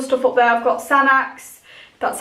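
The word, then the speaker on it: Sanex: I've got Sanax, that's how you say it.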